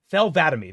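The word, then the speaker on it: Thel 'Vadam: God, Don't ask me to pronounce that. Thel Vadami.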